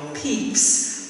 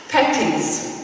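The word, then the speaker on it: Pepys: the name of samuel peeps the restoration diaries i'm sure you didn't know how to know that it's not spelled the same as it sounds peppies the posh girls came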